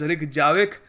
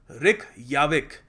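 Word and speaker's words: Reykjavík: this as Ja, but in Nordic countries these guys pronounce Ja as Ya.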